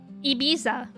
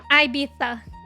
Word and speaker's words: Ibiza: Ibiza. That's the That's the American pronunciation. Here's the British pronunciation. IA. Ibiza. They got They got to get in that Spanish lisp in there.